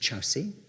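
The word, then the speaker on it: Kyaukse: It's spelt Korksi, it's pronounced Chowsi. This was in 1941, and it was an error. The Chowsi station had already actually been audited by someone else.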